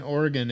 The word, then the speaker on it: Oregon: You can't say Oregon like it's spelled. Get mad, you little bitch. There ain't no damn E at the end of Oregon.